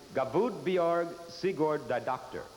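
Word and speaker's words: Guðbjörg Sigurðardóttir: have time for an interview join us you pronounce it bjerg siegord the doctor yes yes let me hear you say it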